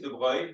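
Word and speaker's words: de Broglie: pronounce it funny yeah his name is De it's spelled D e b r o g l i e de no de first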